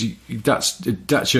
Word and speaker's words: Dacia: Because Dacia is how a Romanian person would say it, but you have to